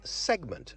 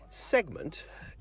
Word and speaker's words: segment: something must be done let's do some pronunciation today shall we i've got a word for you s e g m e n t segment that's segment not segment segment is the individual parts or pieces into which